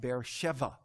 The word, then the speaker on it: Beersheba: he called the place bear sheba or really it can be it can be pronounced beer sheva beersheba means the oath